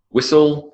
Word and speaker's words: whistle: To make soft is to soften, silent T, whistle. Thistle, bristle, Christmas.